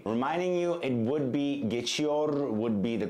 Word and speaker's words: geçiyor: I mean, pronouncing the R at the end of the word, but we generally don't do it. We just say geçiyor. So if, in case you're wondering why I'm not pronouncing some R's at the end of some words, especially at the end of conjugated verbs, when they end in R, we generally don't pronounce them.